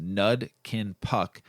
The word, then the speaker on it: Nud Kin Puck: The word Nud Kin Puck is a southern Thai language pronounced Nud Kin Puck.